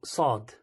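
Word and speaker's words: ص: actual letter is called Saad okay so it's a heavy s so as if you sort of blow up your mouth so just blow up your cheeks a little bit and then pronounce it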